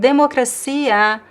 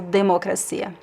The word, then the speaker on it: democracia: This only happens when the syllable is unstressed. Uh in democracia we don't pronounce as G because the E, the letter E here is actually nasal.